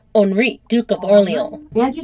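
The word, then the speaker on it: Henri: pronunciation I would just like to say I pronounced it HRI not Henry like I would if I was American so it's Henry but in France it's onri Duke of Oro and you said Oro very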